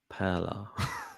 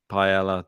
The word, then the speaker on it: paella: I'm going to go Paella just for the... It's not paella. I know it's not. I like calling him that. And that's not how you say it anyway. It's paella. Paella.